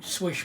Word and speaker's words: Slysz: it's not as smooth as a spider go swish bowie but it is it does have really